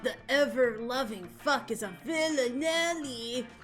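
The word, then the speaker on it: villanelle: A villanelli. That's how you say it. That's because it has the word villain in it.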